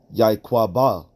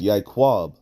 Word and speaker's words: Yaiqab: ba all right because his name is not pronounced yay cua ba all right let's pronounce yay kwab all right so that's